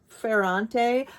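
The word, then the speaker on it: Ferrante: days of Abandonment and her last name is is pronounced fante Alena fante It Was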